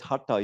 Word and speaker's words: hatha: That's just an anglicized word. It's not actually a Sanskrit word. There is no tha in the Sanskrit alphabet.